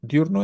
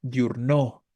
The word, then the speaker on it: diurno: recae En cuál Perdón en diurno no diurno es grave No porque si fuera aguda diríamos diurno Sí claro 21 es